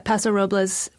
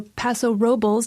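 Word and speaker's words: Paso Robles: these are from uh pasor roblas or Paso Robos depending on how you like to pronounce it because people pronounce it both ways producer um and the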